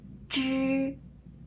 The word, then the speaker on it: 知: 这 3 个发音呢是这样，知、吃、诗的时候，这是我们的舌头，它要翘起来，舌尖要